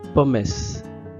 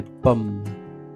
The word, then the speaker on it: pommes: Ce sont des pommes et non des pommesses. Ici, la E comme dans orange, ne se prononce pas à la fin. Ce sont des pommes.